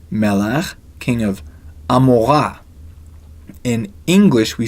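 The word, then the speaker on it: עמורה: with Bill Shah another name melach king of Amora in English we say Gamora how did Ein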